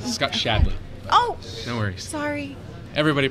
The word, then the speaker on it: Shadley: hard drives oh okay this is a Scott Shanley you're the director technical marketing right Scott shadley oh no worries sorry everybody pronounces it wrong so it's not a problem